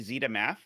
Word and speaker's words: zetamath: original CTC videos and hear them calling me zetamath. uh, because that is how you say zeta in British.